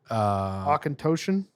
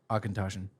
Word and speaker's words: Auchentoshan: How do you pronounce this grinder? Auchentoshan. Auchentoshan.